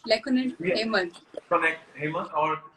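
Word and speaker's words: Lecoanet Hemant: Lekonet Hemant, if I'm right. Did I pronounce it right? Lekonet Yeah.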